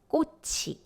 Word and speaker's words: 꽃이: The first one, 치읓 followed by zero consonant, which means you will actually pronounce it as 꽃이. But if you see this word in isolation, then 치읓 becomes 디귿, 꽃, which means flower.